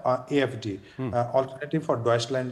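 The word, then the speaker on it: Deutschland: है AFD, alternative for डॉइचलैंड, जो उसका जो रियल प्रोनाउंस ये है।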